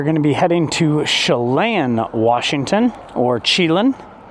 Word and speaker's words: Chelan: This week's episode, we are going to be heading to Chelan, Washington, or Chelan. It's pronounced Chelan, but, you know, I like to mess with the locals.